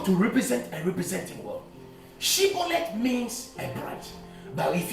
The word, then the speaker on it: shibboleth: call the language test say shibolet if you could not pronounce it shibolet and you say shet you were seized and you were killed now God has a